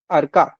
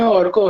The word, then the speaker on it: अर्का: अरका अर्का आपका नाम अर्का ही है क्या? मैं सही प्रोनाउंस कर रहा हूं। हां हिंदी में ठीक ही है प्रोनाउंस बंगाली में औरको है औरको ओके ओके ठीक